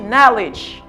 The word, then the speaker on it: knowledge: The knowledge. D va prononcer. C'est ça qui va son D, mais c'est pas ça. M'di knowledge. OK.